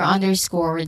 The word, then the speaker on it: underscore: Um, you say the speaker underscored the importance of education for social change.